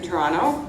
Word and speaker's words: Toronto: I'm born and raised in Toronto, and Toronto, not Toronto. we don't say In Scotland, go Toronto. You never say the. We don't pronounce the T. Yeah. There's only one T in Toronto.